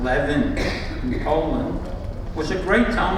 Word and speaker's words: Lewin: Parliament the sad Rabbi Aaron Lewin pronounced Levin McCollum was a great